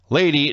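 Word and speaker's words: Lei'D: competitor was lady tapa lady not l-a-d-y l-e-i apostrophe d lady that actually made me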